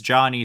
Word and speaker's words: Jony: One, I remembered his name is Johnny spelled like that for some reason. Oh, Johnny. I always pronounce it as Joanie.